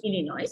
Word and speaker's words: Illinois: You pronounce Illinois Illinois.